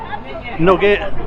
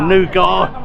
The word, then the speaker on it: nougat: Nugget or nougat if you're posh. It's probably the correct term actually. Nougat. I always say nugget because I'm a bit useless with pronunciations.